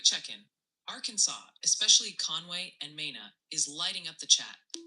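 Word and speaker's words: Mena: Multiple viewers are suggesting it's Mina, Arkansas, New Madrid, Missouri, and Oan County TN. Keep dodging those tricky names. Mina.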